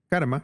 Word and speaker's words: Carme: en este mundo totalmente karma es que tu nombre se escribe Carmen con c pero la e es se pronuncia como a en catálogo hay tres maneras diferentes